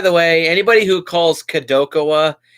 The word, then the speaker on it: Kadokawa: franchise and by the way anybody who calls Kadokawa kadal waka you're idiot that's not how you pronounce it it's spelled ka do ka waa Kadokawa not caddel waka that's just something I want to say so